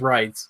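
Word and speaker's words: Reitz: feel bad I forgot I REI TZ I think it's it it's German it's pronounced writes right so any rate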